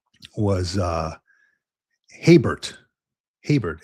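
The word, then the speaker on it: Gaybert: Heybert, pronounced Heybert.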